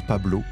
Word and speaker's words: Pablo: Ce serait une référence à plusieurs personnes qu'il aurait influencé dans sa carrière comme Pablo Picasso, Pablo Escobar ou Saint-Paul qui se prononce Pablo en espagnol.